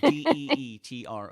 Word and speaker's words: Detroit: Like Deetroit.